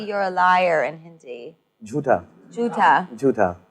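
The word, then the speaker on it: झूठा: Jhuta.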